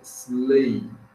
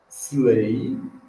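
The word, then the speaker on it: sleigh: que a pronúncia é slay don't pronounce G não pronunci o g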